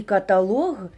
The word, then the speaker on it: каталог: Діалог і каталог мають наголос на лог.